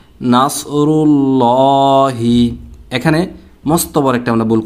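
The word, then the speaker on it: نَصْرُ اللَّهِ: তো উচ্চারণটা হবে নাসরুল্লাহি।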